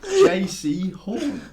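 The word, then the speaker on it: Jaycee Horn: JC Horn.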